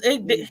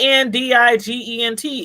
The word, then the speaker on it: indigent: And I'm like, he listed himself as indignant. You got a father, you 17 years old. Oh, independent. No, it says indignant. And am I saying it right? INDIGENT, indigent, something like that.